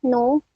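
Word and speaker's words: หนู: Nah, terus ada konsonan, contohnya itu nu, dibaca, yang artinya tikus. Di sini tuh ada konsonan hohib, nonu, u yang panjang, dibacanya nu, hohibnya cuman sebagai penentu nada si nonu ya.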